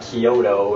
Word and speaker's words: Kyoto: Similarly is Kyoto. Kyoto is pronounced the same way. It's not Kyoto, it's Kyo, which is blended together and kind of long, and then the to is short.